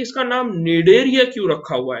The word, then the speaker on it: Cnidaria: आप याद रखिए कि इसका नाम जो निडेरिया, यहाँ पर देखिए सी साइलेंट है, यानी सी का प्रोनाउंसिएशन नहीं है, सी को लिखा जाता है पर उसको पढ़ा नहीं जाता।